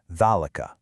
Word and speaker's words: ذلك: Now, when you say it, you loudly pronounce a long A sound right after that first letter. you say "thalika." But, here's the catch. The word is actually written completely without the vertical alif character that normally represents that long A sound. It's almost like Arabic's version of invisible ink. This is just one of those special exceptions you have to commit to memory.